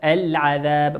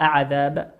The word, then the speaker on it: العذاب: وقوله سبحانه وتعالى العذاب ما نقول أعذاب نضغم لكن نظهرها. لماذا؟ لأنها لام ساكنة أتى بعدها حرف العين والعين من حروف اللام القمرية.